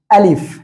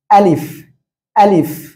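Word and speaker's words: ألف: কি অক্ষর শিখবো দেখেন, এখানে আমি দেখাচ্ছি এটা কি অক্ষর, এটা হলো আলিফ। কি অক্ষর? আলিফ, আলিফ, ঠিক আছে? এভাবে উচ্চারণ করতে হবে।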